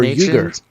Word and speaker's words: Uyghur: Ooh, Uyghur or Uyghur? It's Uyghur. It's pronounced Uyghur. Is it? Are you sure? I'm positive. Oh, go. It's U-Y, Uyghur.